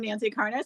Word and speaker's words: Karnas: you for saying that because no one ever pronounces it right so I'm Nancy Carnes I'm very original with my channel name of